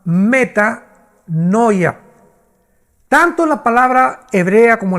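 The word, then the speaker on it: μετάνοια: Shuf se pronuncia y la palabra griega es la palabra meta con m de mamá meta noia.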